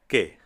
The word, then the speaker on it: que: Now, pay attention to the letters Q, U in Spanish. Unlike in English, where Q, U often sounds like Q, in Spanish it sounds like a K.